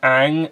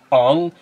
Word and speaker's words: Aang: Which is obviously going to be a little bit weird because, like, the main character in all of Avatar, Aang, is pronounced Aang and not Ong.